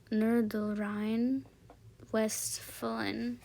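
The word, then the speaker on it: Nordrhein-Westfalen: The H is silent. The H in where? Oh, Nordrhein Westfalen.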